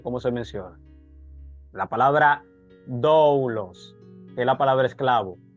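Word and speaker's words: δοῦλος: se menciona la palabra doulos que es la palabra esclavo Ed la puede usar tú puedes decir dulos puedes decir dlos No importa Porque es una es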